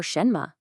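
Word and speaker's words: 什么: The first syllable shen is a second tone which rises. A good way to think about it is to imagine you're asking a question in English like h that upward inflection that's the feeling of a second tone shen but the second syllable me is a neutral tone it's so light and quick and completely unstressed it kind of just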